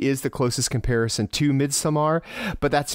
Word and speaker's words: Midsommar: used to it cuz I've been calling it Midsummer since I saw it but but it's totally right that is how it's pronounced but it's midamar yeah you got to add the midamar what I think of